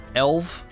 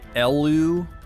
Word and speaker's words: Elw: think some people say elv some people say ELO some people say elwa but I've never heard